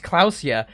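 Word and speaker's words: Klaasje: is pronounced uh it's like her name is pronounced clusia and the place is pronounced Revol equip flashlight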